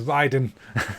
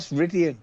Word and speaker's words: Ryden: His name is Ryden. It's not Ridian. His name's Ryden. You said it wrong.